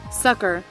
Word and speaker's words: succor: Sucker. Sucker. So it's literally just sucker. It looks like succor.